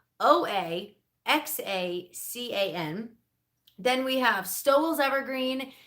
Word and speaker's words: Oaxacan: We've got Oaxacan green dent corn. So in case you weren't sure how to pronounce that, it is Oaxacan green corn, and it is spelled Oaxacan.